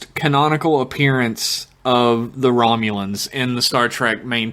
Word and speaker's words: Romulans: the funny thing is they like mispronounced Romulans they call it a Romulan Romilly the Romulans and then T'Pol is like Romulans yeah we've heard about